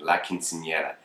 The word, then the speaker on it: Quinceañera: I had to say it so many times before Gigi corrected me. He's like, you keep saying it wrong. So I finally have it instilled in me, where I'm basically saying it.